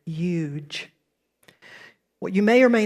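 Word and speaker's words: yuj: It's pronounced huge, like huge, but remove the H if you would, huge.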